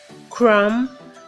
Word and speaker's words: crumb: herons pronounced like this the be at the end of each Radha's silence so they are pronounced as comb crumb done numb I know that